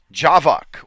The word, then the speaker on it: javac: Some of the key tools: Javac or Java-C, depending on how you want to pronounce it.